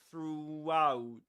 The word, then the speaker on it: throughout: Luke Thompson says that you can hear a W sound in between throughout throughout because he pushes